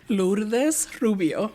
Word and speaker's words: Lourdes Rubio: And I know I did not pronounce that correctly, so I will ask you. Lourdes Rubio.